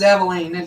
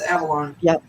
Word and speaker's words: Avalon: I bet everybody says Aveline, don't they? But it's not. It's Avalon.